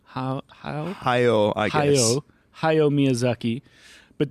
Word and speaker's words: Hayao: There's how do you pronounce his first name? Hayao, I guess.